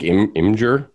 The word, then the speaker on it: Imgur: I think Imgur. I don't know. Okay. Imgur sounds just weird. Yeah. So I say like an ogre or something. I am Imgur.